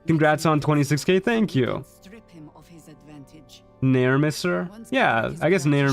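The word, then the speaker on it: Nere: Yeah, it's just like Never but without the V. It's Nair Mister.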